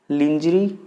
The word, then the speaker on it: lingerie: Lingerie.